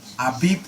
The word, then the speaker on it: Abib: Aviv is the modern Israeli pronunciation. Oh. Abib is the biblical Hebrew pronunciation. Oh. Yeah. Okay. This character was pronounced B in the Bible, but in modern Hebrew it's pronounced V.